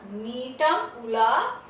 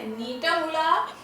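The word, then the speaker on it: Gnetum ula: Climber, नीटम उला, जी silent है, okay, नीटम उला और एफेड्रा फोलियाटा।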